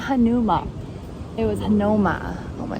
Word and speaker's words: Hanauma: Off to Hanauma. Watch us just pronounce all these wrong.